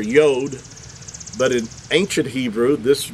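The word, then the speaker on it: יוד: ancient Hebrew, this letter really should be pronounced as Yod. Now, I'm going to read this to you. I made some notes here. The Yod, and by the way, if you look this up, it's spelled, the letter itself is spelled with the Yod and the Dalet, which would give you the pronunciation Yod.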